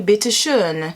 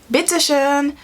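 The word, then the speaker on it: bitte schön: bitter unpetition bitter under bittershoen that o is definitely an uh would have definitely benefited me to learn the alphabet so there you go that's 14 bitter bitter sheen okay dan kishan bittershane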